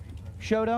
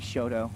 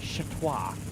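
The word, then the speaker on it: Chouteau: Braxton Hushes will come up out of Shoto, Oklahoma. Am I saying that one right? Shodo.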